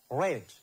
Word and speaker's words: read: But when you pronounce or when we say it, when we read it, we have to say as red.